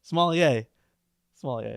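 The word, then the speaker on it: sommelier: not saying it right what did you say saloner you remember he had a big rapper necklace a somier somier that's what I meant to say get out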